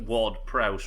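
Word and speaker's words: Ward-Prowse: to the fact that ward prowse rhymes with i would have done the house yeah there's nothing in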